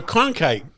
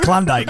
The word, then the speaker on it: Cronkite: I thought he said Klondike.